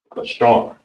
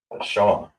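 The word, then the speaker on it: בשר: So, how you would say flesh or body Let me get a different color marker. B. Bashar. All right? Bashar. That's how you say body or flesh. Bashar.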